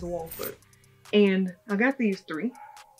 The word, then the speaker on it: Wolford: I used to pronounce it Wolford, but I think it's Walford.